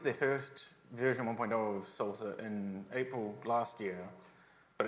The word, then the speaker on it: SLSA: getting that wrong um pronounced like salsa they have their own